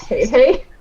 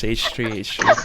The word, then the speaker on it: H3H3: So recently there's been one H3H3, a YouTuber I follow, versus Oh, this guy it's not called pronounced hey hey. No, it's H3H3. I always thought it was hey hey.